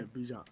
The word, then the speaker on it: Bijan: Yeah, Bijan.